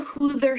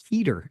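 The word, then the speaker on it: Huether: And that's when I learned it's actually pronounced heater.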